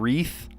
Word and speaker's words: wreath: There's a silent W in a couple of these. Playright, sword, rap, and wreath. Those are silent W's.